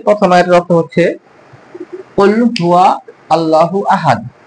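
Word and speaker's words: هُوَ: এখানে সবাই ভুল করেন, কুল হু, হু কে আল্লাহর সাথে আপনারা যোগ করে দেন, কিন্তু না, এখানে হুয়া। কুল হুয়া, কুল হুয়াল্লাহু আহাদ। এখানে ওয়া উচ্চারণটা অবশ্যই করতে হবে।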